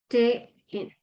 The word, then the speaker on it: stehen: La ST se pronuncia como cuando nosotros queremos decirle a una persona que haga silencio. Sht, ¿no? Como chito. Palabra. Por ejemplo, el verbo stehen. ¿Mm? Empieza con ST, entonces lo voy a leer como stehen.